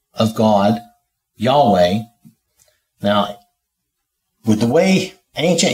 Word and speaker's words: Yahweh: just start with the basics here um we pronounce it Yahweh and when you see in the Bible when